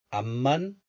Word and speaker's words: 앞만: 앞만 보고 달렸지.